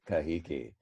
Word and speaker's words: Kahiki: with a t but hawaiians actually took that t threw it out and replaced it with the sound that tahitians already had which is a k so tahitians have both t and k but hawaiians cannot say the t anymore they have no tea it's all gone bye-bye so tell me now how you think that hawaiians say tahiti yes exactly kahiki so remember mele kalikimaka